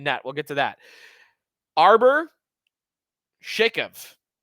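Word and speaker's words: Arber Xhekaj: Arbor Shakov, I believe is how you pronounce it.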